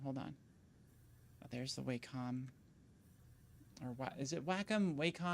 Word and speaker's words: Wacom: Oh, there's the Wacom. Or what is it? Wacom? Wacom? How do people pronounce this?